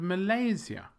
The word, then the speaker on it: Malaysia: in the middle and Malaysia the stress is in the middle I don't think there